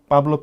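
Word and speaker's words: Pablo: P 발음을 안 하기 때문에 파블로가 아니라 파블로. 네, 아. 파블로 피카소. 예, 여러분, 네. 파가 아니고 빠! 네. 피가 아니고 삐!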